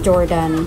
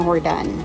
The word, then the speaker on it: Jordan: ito yung hordan sabi Akala ko n ang pagpronounce dito is Jordan hordan pala siya so ito yung ano